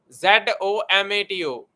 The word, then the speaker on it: Zomato: don't worry about that gomato z z z z o m a t o z o m t u gomatoni don't worry pronunciation this is a matter Punjabi challenge basically